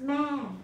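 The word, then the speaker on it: แม่: The sample word of Thai word, this word, pronounced ma, which means mother, is comprised from m, which is initial consonant, vowel a, and low tone.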